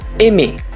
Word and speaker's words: aimer: Semua kata kerja yang berakhiran er dibaca dengan bunyi "é". Huruf "er" diganti dengan "é." Jadi, "aimer" dibaca sebagai "aimé". Lalu ada kata lain seperti